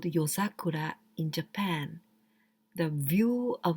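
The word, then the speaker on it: 夜桜: Yozakura. Yozakura. Well, this yo, this kanji you can pronounce yoru, at night. Yoru, at night, and sakura, yozakura.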